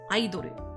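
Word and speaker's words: アイドル: It has the same meaning in Japanese as it does in English, because the word idol is borrowed from English, just pronounced in katakana. Aidoru.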